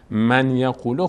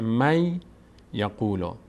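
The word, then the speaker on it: من يقول: خاطر این هست که من یقول خونده نمیشه این کلمه ببینیم با هم این کلمه اینجا الان بهش میگیم ما نمیگیم من یقول در تلاوت نمی‌خونیم من یقول میگیم نون نون ساکن بعدش یا اومده تبدیل میشه به یا تشدید می‌گیره یا میشه می خود این نون رو انگار یا ی فرض می‌کنیم میشه می یقولا می یقولا تلفظ درستش اینه می یقول نون ساکن و تنوین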